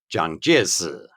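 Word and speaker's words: Jiang Jieshi: If you read the characters in Mandarin Chinese, it's Zhang Jiesi.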